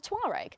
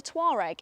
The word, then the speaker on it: Touareg: Volkswagen like to make a habit of producing cars with hard to pronounce names. You've got the Tiguan, the Touareg and the Arteon.